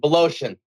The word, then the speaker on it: Wolozyn: Joining me is Tim Wolozyn. Is that the correct pronunciation? That is close enough, brother. Wolozyn. Close enough.